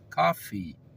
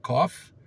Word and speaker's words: coffee: coisa muito diferente então café em inglês dizemos cafee cafee o cafezinho cafee qualquer café cafee o café grande Cafe mas quando falamos ou pronunciamos cof cof o americano entende tosse então cuidado para não